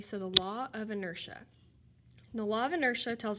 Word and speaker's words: inertia: the law of inertia and inertia is spelled like inner TIA but I don't want us to pronounce it that way I want us to say it correctly so the law of inertia the law of inertia